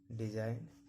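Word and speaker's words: design: जी कब साइलेंट होता है, जब भी जी के बाद एन आए, जब भी जी के बाद एन आए देखिए तो जी का उच्चारण नहीं किया जाता है। रिजाइन, डिजाइन, नोम पढ़ा जाता है।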